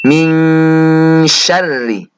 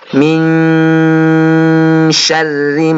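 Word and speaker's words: مِن شَرِّ: Al Falaq yakni ada nun sukun bertemu dengan Shin dalam lafal Ming Sherly cara bacanya yaitu dengan dibaca dengung atau ditahan anak-anak dan lisan atau mulut sudah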